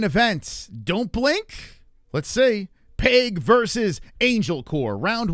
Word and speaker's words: Pague: Dustin Pague, I would think. Pennsylvania, home cooking here. Oh, Pague or Peg. Pague. Okay. Here we go, guys. Get ready. The main event. Don't blink. Let's see. Pague versus Angelcor.